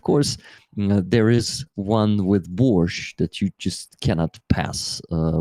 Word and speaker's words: borscht: I noticed because this is the way you say borscht. You don't say borscht. It's borscht, guys. We don't say T. So basically, it should be borscht.